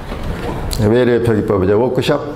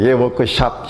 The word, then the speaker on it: 워크숍: 그 안내도 계속해 나오죠 워크숍 워크샵 샵 하는데요 미국에서는 워크샵으로 발음을 할 수가 있는데 우리 법상을 뭐 이거 틀려도 문제는 안 되는데 좀 창피할 수가 있죠 대금은 언제 결제해 주시겠습니까